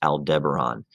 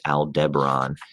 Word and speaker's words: Aldebaran: bright orange star associated with tauruses it is pronounced aldebaran remember that word please aldebaran and uh it's it's kind of right there